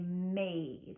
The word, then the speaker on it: made: There's a silent E at the end of that word. That E is not making a sound, but it's a clue that the A is going to be making its A sound.